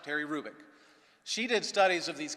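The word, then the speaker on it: Hrubec: b e c terry krubik the h is not pronounced terry rubick she did studies of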